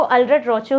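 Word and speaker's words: Allred-Rochow: बहुत लोग इसको अल्रेड-रोचो भी बोलते हैं, बट एक्चुअल जो प्रोनाउंसिएशन है वो अल्रेड-रोचो ही है, ठीक है।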